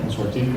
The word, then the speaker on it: Consortiq: Then we have Paul Rigby, the CEO of Consortiq. Did I pronounce that correctly? Yeah. Consortiq, okay.